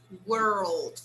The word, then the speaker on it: world: So here I should say world. I say R and then I say L, okay?